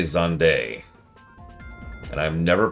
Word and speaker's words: Zande: They have said Zan's name once ever. In Endwalker, specifically. In FF14. And they do say Zande.